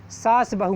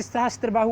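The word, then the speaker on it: सहस्रबाहु: किंतु स्थानीय अपभ्रंश के कारण इस मंदिर का नाम सास बहू मंदिर पड़ गया है। कुछ लोग जिनसे सहस्त्रबाहु उच्चारण करते नहीं बनता था, उन्होंने इसका शॉर्टकट उच्चारण किया सास बाहु मंदिर, सास बाहु मंदिर।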